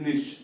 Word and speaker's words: niche: इट इज निश, pronunciation NICHE, ठीक, निश।